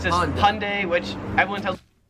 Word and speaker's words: Hyundai: Just make it like two syllables like Hyundai. Australians three syllables hyundai.